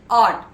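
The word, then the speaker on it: ought: sunrise darkness next word ऑट ओ य जीएसटी ऑट ऑट इज a model ऑक्सल यूज to express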